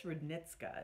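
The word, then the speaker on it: Roudnitska: The nose was Edmund, I think it's Rudnitska is the way it's pronounced.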